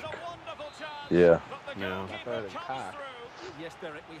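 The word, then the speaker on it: Koch: It was Cook. That's how he pronounced it. K-O-C-H. Cook.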